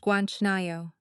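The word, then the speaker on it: 괜찮아요: It's pronounced Guanchanayo.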